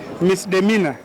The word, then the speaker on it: misdemeanor: Misdemeanor.